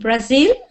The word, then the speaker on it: Brazil: It's like Tokyo. Tokyo and Japan. Japan. Tokyo and Japan. Japan. Yes. Get the ending. So, how do you say this country? Uh, Japan. And Brazil. Brazil. Brazil. Brazil. Brazil. Sometimes it's important to get the stress on the right syllable.